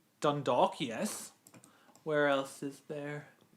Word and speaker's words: Dundalk: And that one's Dondor. Dundalk. Yes. Where else is there? Siggo. I know how to pronounce it.